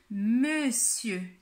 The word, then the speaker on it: monsieur: commencer avec monsieur ici c'est écrit mon dieu mais on va dire monsieur on ne prononce pas non plus le ra à la fin c'est un mot que